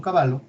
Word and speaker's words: Cavallo: por eso su apellido, y no era porque era un caballo, sino que así se pronuncia en italiano, Domingo Cavallo, hizo la convertibilidad en